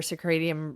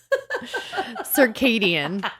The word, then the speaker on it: circadian: what I'm talking about circadium or circadian circadium stop oh cirium no I said it wrong and you were being a brat and I continued with what I said and I believed you I know circadian thank you the the